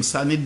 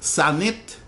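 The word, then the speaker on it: Sanité: So now this is something that just caught my eye the other day, because I always knew her name, Sanit Belair, but I didn't know she was a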